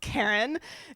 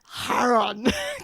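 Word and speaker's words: Charon: It's not pronounced Karen. It's pronounced Haron. Get it right. Like, fine, I guess, if that's how you want to pronounce it. But actually, Karen is totally fine. You can pronounce it that way, too.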